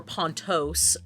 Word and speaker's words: Pontus: pontus uh inhabits so pontus or pontos is the Greek primordial song Oh yes some people pronounce that pontos yeah um disagree oh